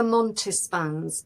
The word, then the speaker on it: Montespan: Madame de Montespan's name comes up.